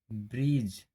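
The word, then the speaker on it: bridge: Rule, जब जी से पहले डी आता है तब डी साइलेंट होता है। जैसे आपको दिखाई दे रहा होगा यहाँ डी है तो इसका डी का प्रोनाउंस हम नहीं कर रहे हैं, ब्रीज। इसको क्या प्रोनाउंस कर रहे हैं? ब्रीज प्रोनाउंस कर रहे हैं।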